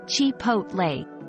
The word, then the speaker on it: Chipotle: h t syllable where the O is pronounced like the O in hot and ending with a